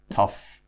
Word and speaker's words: tough: Okay, so now let's look at the uff pronunciation. So uff, just like stuff, uff, and it's in words like enough, rough, tough, and slough.